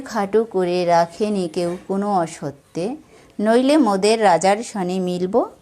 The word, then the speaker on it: অসত্যে: এই শব্দগুলোর মাঝখানের অক্ষর ওকার সহযোগে উচ্চারিত হবে। যেমন এখানে আছে রাজত্বে, হবে রাজত্বে। দাসত্বে গানের সুরে উচ্চারণ হবে দাসত্বে। অসত্যে গানের সুরে উচ্চারিত হবে অসত্যে।